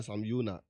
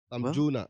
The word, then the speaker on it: Sam Jonah: boje esema Sam Jonah is it Sam Jonah or Sam Yuna? How do you pronounce the name? Sam Jonah. Me kind of Jonah. Yeah, Sam Jonah.